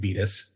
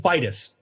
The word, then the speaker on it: Vitus: saints day dedicated to saint vidis or i i've been saying it wrong this whole time it's saint vitus my god like vital or they occurred around